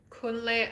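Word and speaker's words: Kunley: Sometimes people spell Kunle as K-I-N-L-E-Y, and sometimes they spell it as K-U-N-L-E-Y.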